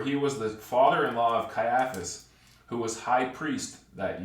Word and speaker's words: Caiaphas: was the father-in-law of Caiaphas who was high priest that year now it was Caiaphas or Caiaphas depending on how you prefer to transl to pronounce it who was advised who